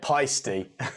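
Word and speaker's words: Paiste: I say it peisty.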